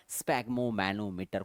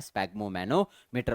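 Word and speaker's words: sphygmomanometer: bye instrument called the स्पेगो मैनोमीटर कुछ स्पिग मो कहते हैं कुछ स्पेगो कहते हैं तो जो कहना है आपको बस स्पेलिंग को याद रखना है स्पैग मो मैनोमीटर और ये कुछ ऐसा दिखता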